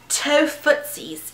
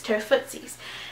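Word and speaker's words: Tofutsies: It's called Tofootsies, and it's spelled Tofuttsies. Of course, you won't be able to read it, but it's Tofootsies.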